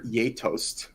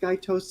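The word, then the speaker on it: geitost: um it's it's i believe it's the proper pronunciation is poulter yatost um but it's spelt like gaitos and i think it can be pronounced guy toast it's a norwegian she is apparently very popular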